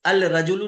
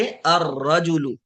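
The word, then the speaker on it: الرَّجُلُ: अर्रजुलु, तो यहां भी देखिए अल रजुलु नहीं पढ़ेंगे, बल्कि अर्रजुलु, लाम में रा में मिलाएंगे और लाम यहाँ साइलेंट होगा।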